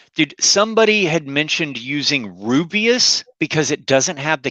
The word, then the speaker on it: Rooibos: And for y'all that don't drink tea, Rubius tea is spelled Rooibos, but it's South African.